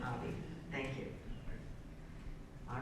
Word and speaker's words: Abbey: Oh, you pronounce the E. Okay, Abbey.